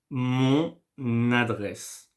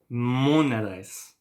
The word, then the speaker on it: mon adresse: Mon adresse. So first I say mon, and then, you know, I make the liaison with the N and the adresse. Mon adresse.